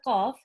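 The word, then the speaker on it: ق: So what we're doing is when we're pronouncing the qaf, is the back of the tongue.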